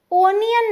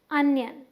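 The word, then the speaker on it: onion: प्याज को हम अनियन नहीं बोलते, ओनियन नहीं बोलते, हम बोलते हैं अनियन। क्या, अनियन। ध्यान रखें, अपने रिश्तेदारों को भी बताइएगा जो ओनियन बोले।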